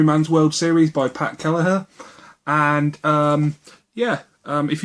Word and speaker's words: Kelleher: yeah again this is backhand gang by Pat kellerer that's how you say it um this is